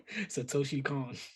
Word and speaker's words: Satoshi Kon: this movie is amazing the director's name I tried to pronounce it earlier and I was sounding like Kendrick Perkins it's Satoshi Khan Satoshi Khan yes yeah